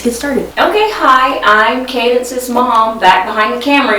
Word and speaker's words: Cadence: a good question um my name is pronounced Cadence um c a d n c e that's my name it's Cadence I get this a